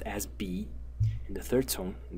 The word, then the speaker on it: 比: So when the character is pronounced as B in the third tone, in this one, when